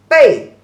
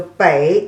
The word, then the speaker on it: 北: The pronunciation as 北. So 北 is the third tone, and the back is the fourth tone.